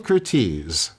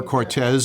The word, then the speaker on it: Curtiz: Michael Curtiz. Yeah, okay. Yeah. So that is... Or Cortez, if you want to pronounce it that way.